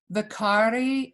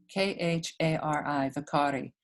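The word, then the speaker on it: vaikhari: of these so far hannah vicari is v a i k h a r i v a i k h a r i one more time v-a-i-k-h-a-r-i vicari mari ma is m-a-d-h-y-a-m-a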